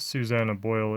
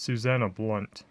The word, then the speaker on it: Susanna Blount: I said it wrong it's not Susannah Boyle it's Susanna Blount here up on top